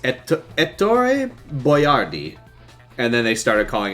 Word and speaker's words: Boiardi: It's Ettore Boiardi. And then they started calling him Hector Boiardi. And he put his name on his chef's hat, spelled out Boy-R-D. So people would know how to pronounce it.